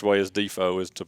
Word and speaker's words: DeFoe: but yeah it's actually the correct way is defo is to pronounce it and it might have been out